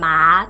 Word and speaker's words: 马桶: When a third tone is followed by another third tone in a group, the first third tone changes to a second tone. 马桶 is pronounced as 马桶. 马桶.